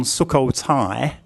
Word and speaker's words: Sukhothai: The final syllable on Sukhothai is also a short I, but it's written a different way. It uses the Mahanagat vowel that we did previously and today's Y consonant. So this vowel and this consonant also make a short I sound.